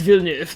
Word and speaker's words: Villeneuve: According to, Google, when you put it in and then you click the little speaker that says, how do you pronounce this? It's Villeneuve. Because that is the name they used in the live-action remake.